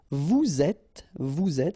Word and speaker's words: vous êtes: in that case you get vous êtes, so you make the liaison between the two, and then avoir, to